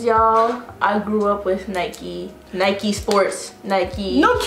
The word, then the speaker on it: Nike: bikey not mikey so why is knight pronounced nike um lamb american advertisements